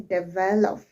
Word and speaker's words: develop: I want to develop I'm not saying develop I'm saying develop okay and I am putting more stress on the second syllable develop personality I'm not